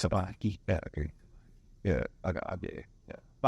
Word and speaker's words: Kapa Arkieh: They're like, 我不会念这个, 这怎么念? And it's just a box conversation. It's like, it's Kapa Arkieh.